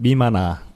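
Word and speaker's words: みまな: 보통 이제 일본에서는 미마나 미마나 미마나라고 이렇게 그 발음을 많이 했다고 해요.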